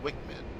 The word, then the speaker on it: WCMD: IMs carried by the A-10C include the Joint Directed Attack Munition, JDAM, and the Wind Corrected Munition Dispenser, WCMD, often pronounced WICMID.